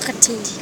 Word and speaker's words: worked: you add ed, Yeah. and this is pronounced like T. T. Work, Worked.